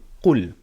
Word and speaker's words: قُلْ: Qaf dhamma lam sukun qul. I remember teaching you in chapter number 5 that when we have a silent letter, we never read it on its own. We always read it with the letter that is before it.